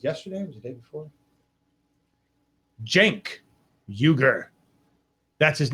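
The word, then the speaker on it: Cenk Uygur: discovered this was yesterday was the day before Jen yuger that's his name I will never pronounce it wrong again because because this is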